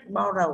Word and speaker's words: borrow: Duy nhất borrow âm tiết thứ nhất, các bạn chọn different is borrow.